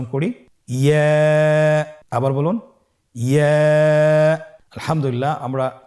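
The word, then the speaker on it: ياء: ইয়া হরফটি উচ্চারণের ক্ষেত্রে বারিক হবে এবং 1 আলিফ টেনে পড়তে হবে। ইয়া। আবার বলুন ইয়া। ইয়ার মাখরাজ কোন জায়গা থেকে উচ্চারিত হয়?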